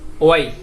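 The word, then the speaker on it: why: হবে, এটা হবে ওয়ার্ড, অর্থাৎ হটা উচ্চারণ হবে না, এটা উচ্চারণ হবে না, ডিরেক্টলি আপনার উচ্চারণ হবে ওয়াট। আর এটা অয়ার, এটা হচ্ছে ওয়াই, এটা হচ্ছে উইচ, এটা হচ্ছে অয়েন। এইভাবে আপনাদেরকে উচ্চারণ করতে হবে।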